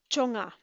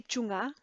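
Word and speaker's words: བཅོ་ལྔ: oops sorry La so chonga chonga we don't say chunga not sure maybe there's another word that's chunga that would be confusing if it were that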